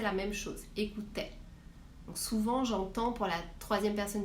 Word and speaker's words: souvent: Par exemple, pour l'adverbe souvent, je ne dis pas souve, mais bien souvent.